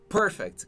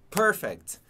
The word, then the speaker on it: perfect: Atenção na pronúncia dessa palavra. Perfect. Escuta aí muita gente falando perfect. Principalmente que joga Mortal Kombat, né? Ah, ganha de perfect. Street Fighter, ganha de perfect. Não é perfect, ok? Perfect.